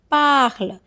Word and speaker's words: parles: That is parle. Pronunciation is parle only, okay?